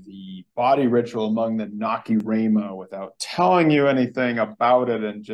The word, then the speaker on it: Nacirema: was assign you the body ritual among the Nacirema without telling you anything about it and just